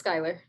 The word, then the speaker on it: Skylar: Am I pronouncing your name correctly, by the way? I'm saying Skylar, is that? Yeah, it's Skylar.